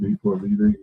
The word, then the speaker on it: D4vD: Oh, she's talking about D4 VD. Ari, did I say it right this time? D4 VD. Yeah, cuz I was saying too many D's the last time.